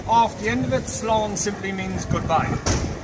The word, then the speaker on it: slán: Slán simply means goodbye.